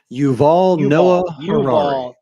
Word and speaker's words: Yuval Noah Harari: You guys, if you haven't heard of Noval Harari, is it how you say it? Yuval Noah Harari.